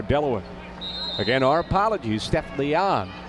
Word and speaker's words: Leon: Again, our apologies, Steph Leon. The proper pronunciation we learned, not Steph Leone, as we've been calling her for the last several years.